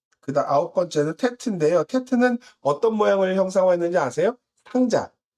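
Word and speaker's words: טית: 테트는 어떤 모양을 형상화했는지 아세요? 상자, 바구니. 바구니 상자, 바구니처럼 모양을 가졌는데 어떻게 쓰냐면 이렇게 바구니처럼 둥그런 바구니였다라고 말씀을 드렸고 음가는 테트죠.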